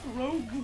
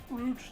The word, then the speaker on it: Rouge: The fucking Rogue the Bat. I wonder how many people I can piss off by specifically pronouncing Rouge the Bat's name as Rogue the Bat.